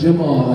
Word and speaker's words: Jamal: ask somebody else too like I know it's Jamal like the J is now like jalapeno it's